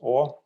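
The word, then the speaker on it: Å: in our alphabet and one of them is an a with a dot over and that's pronounced or and this town is called or yeah that's that's it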